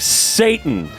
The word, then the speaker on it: Sadan: Mom you're a jackass sadan oh no sorry pronounced like Satan probably because the parents